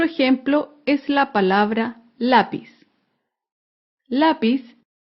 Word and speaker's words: lápiz: es la palabra lápiz lápiz es una palabra grave porque se acentúa en la penúltima sílaba lápiz un ejemplo de